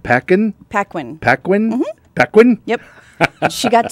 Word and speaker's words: Paquin: That makes her Anna, is it pronounced Paquin? Paquin.